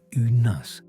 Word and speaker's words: Uranus: Some astronomers advocate for adopting the classical Greek pronunciation, which places the emphasis on the first syllable, making it sound like unus.